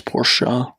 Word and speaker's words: Porsche: It's 2 syllables, Porsche.